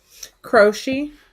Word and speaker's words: Croce: Look for a Jim, how do you pronounce his name again? Crochet.